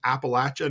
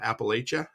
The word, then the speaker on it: Appalachia: He's from Appalachia, not Appalachia.